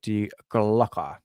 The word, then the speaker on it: Die Glocke: and bring up the de glocker not Decker yes de glocker the German pronunciations says it a little bit differently right let's do this